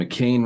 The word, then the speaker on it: McKayne: And McKayne rhymes with Kane, and he needs one because he's an old fuck that can't move very well.